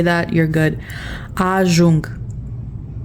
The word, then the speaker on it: ajung: Ajung. The U is pronounced U in Romanian. We went over this in the alphabet. The J makes the Z sound, so it's just ajung, arrive.